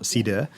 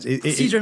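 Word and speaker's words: Cidre: One of the things I love as well, but you worked on Stella Artois, cider, if I've got the pronunciation right. Cider, not cider.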